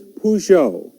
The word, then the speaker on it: Peugeot: The name is Peugeot.